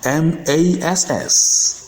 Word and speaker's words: mass: The exceptions are MASS, which is pronounced mass, and BASS has 2 different pronunciations based on the meaning of the word.